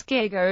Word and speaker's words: giga: This suggests a hard German G was originally intended as the pronunciation.